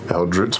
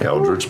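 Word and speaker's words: Eldritch: How would you pronounce that? How would you say those words? Eldridge blast. Blast. No. Well, hell. I missed the old way you said it. A nice Eldrich Blast.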